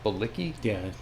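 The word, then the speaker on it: Bilicki: Bicki.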